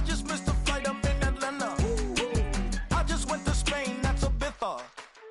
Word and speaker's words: Ibiza: Yeah, it's pronounced Ibiza, actually. Yeah. What's the difference, man? Ibiza, Ibiza, you won't see me in neither.